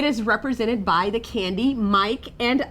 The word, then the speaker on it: Mike: So let's look at Mike. We have a long I in Mike, and there is a silent E. The same is true with Ike. The I is a long vowel sound, and the E is silent.